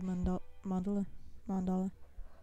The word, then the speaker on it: mandala: Wander's gonna fall over, go to sleep, and then we see this trippy little mandala. I said it right. I was always saying mandala, and I was saying it wrong, but oh well, whatever.